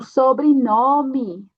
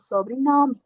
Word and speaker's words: sobrenome: Aqui você tem uma O, mas a pronúncia vai ser U, lembre. O sobrenome, tá? E também aqui é como uma I, porque temos uma E no final. O sobrenome, tá?